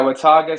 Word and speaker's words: Watauga: Watauga, is that the proper pronunciation? Yeah, Watauga.